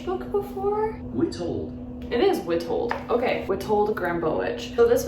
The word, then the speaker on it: Witold: It is Witold.